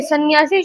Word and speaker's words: संन्यासी: बी वाला option है सन्यासी शब्द की शुद्ध वर्तनी ये होती है स बिंदी आधा न य आ का डंडा स और बड़ी की मात्रा यानी कि दोस्तों इसका उच्चारण ऐसा होता है संन्यासी लेकिन हम इसको ऐसे